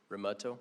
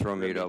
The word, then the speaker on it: Romento: apologize if I'm not mispronouncing that but I think I'm Roto it's it's R it's Romeo but close enough I've been called a lot